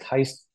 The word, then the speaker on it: Gijs: I was down 4-1 in the third, playing one against Heist Linders. Oh yeah, how'd you spell that?